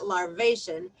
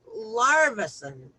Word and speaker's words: larvacean: a master builder larvacean see i would not have known to pronounce that larvacean i would have probably called it larvacen but larvation listen to